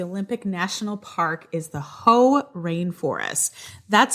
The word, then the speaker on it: Hoh: Reason number 1 that you need to go to the Olympic National Park is the Hoh Rainforest. That's spelled H-O-H.